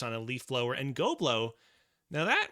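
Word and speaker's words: Ghoblo: going to name this goblo and that is spelled g h o b o sorry can you repeat that g h o as in ghost BL goblo goblo oh interesting very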